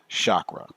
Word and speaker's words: chakra: It is pronounced chakra. That is the correct pronunciation, even though it is most commonly said chakra.